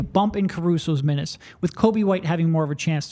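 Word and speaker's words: Coby White: kby there's no l it's pronounced almost exactly like Kobe and Kobe Bryant just spelled completely differently like 75% of the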